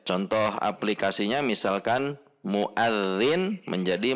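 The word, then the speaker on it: مؤذن: Contoh aplikasinya misalkan muadzin menjadi muazin, atau alladzi menjadi allazi, atau allazi.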